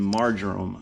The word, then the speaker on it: marjoram: a baste with some butter garlic rosemary and marjoram i believe that's how you say it m-a-r-j-o-r-a-m